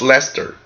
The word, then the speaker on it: Leicester: have you on board from Leicester pronounced Leicester okay in the UK nice